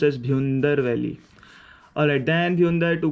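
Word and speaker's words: Bhyundar: It's pronounced as Bhundar Valley.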